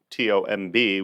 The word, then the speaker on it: Tomb: on a side note his name is Greg tomb t-o-m-b we pronounce tomb but what does a